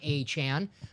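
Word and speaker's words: Achane: way PR team for putting the pronunciations they tweeted at it's Devon achan I always wonder that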